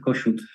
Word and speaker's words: Kossuth: Yeah, we pronounce it Kossuth. Kossuth.